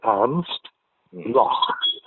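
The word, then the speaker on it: আর্নস্ট ব্লখ: তার নাম এমস্ট লক তুমি লিখতে পারো আর্মস্ট দন্ত নয় রেফ দন্ত ছয় টায় আর্মস্ট লক বয় লয় খ মোটামুটি এই উচ্চারণ আঞ্চ ব্লক ছিলেন এক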